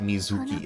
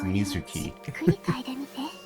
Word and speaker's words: Mizuki: keep cuing people say her name is Mizuki it's not Mizuki it's Mizuki pronounce Japanese name